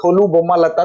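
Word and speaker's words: Tholu Bommalata: ये चीज है कि थोलू बोम्मा लट्टा, तोलू भी कहीं कहीं लिखा है, तो थोलू या तोलू आपका प्रोनाउंसिएशन जो भी हो, यह फिलहाल थोलू ज्यादा उपयुक्त लग रहा है।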